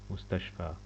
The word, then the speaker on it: مستشفى: pronunciation ي here like ألف. مستشفى مستشفى.